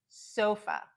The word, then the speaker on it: sofa: Sofa. Here you can hear that O, so, O. And then the A, it's just a.